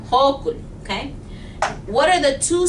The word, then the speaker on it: Hochul: No se escribe así, pero así se pronuncia. Okay? Hochul. Hochul.